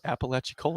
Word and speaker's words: Apalachicola: It's definitely Apalachicola.